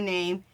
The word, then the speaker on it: Niamh: I'm going to get her name, and I'll be right back. Okay, you guys. Her name is Name Bailey. So she's spelling it Niamh, and then her last name is spelled Baly.